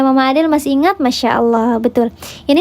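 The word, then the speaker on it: الله: Ya, maka dibacanya tebal, di pangkal lidahnya diangkat. Allah, bukan Allah, bukan Allah, tidak ada wawunya di situ. Hanya ditebalkan saja pangkal lidahnya.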